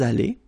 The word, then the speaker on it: allés: Okay. Nous sommes allés. You don't pronounce it. Okay, but you write it.